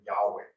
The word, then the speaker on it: Yahweh: So Jehovah's actual name, Jehovah is the English pronunciation of the Hebrew word Yahweh.